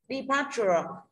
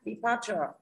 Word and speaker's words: departure: Departure. Đi để cũng không nhận trọng âm. Đúng không ạ? UR không nhận trọng âm. Rơi vào thứ hai. Departure.